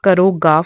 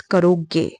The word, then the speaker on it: करोगे: Okay, remember it's not karoga for a boy, it's karoge.